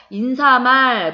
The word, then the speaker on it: 인사말: 이 비슷한 공부했던 기억나시죠 인사말 얼이 말 우리가 평상시에 잘못 빠르면서 인사말 머릿말 뭐 이렇게 발음 하기도 하는데 발음이 잘못된 거라고 인사말 인사말 과 머리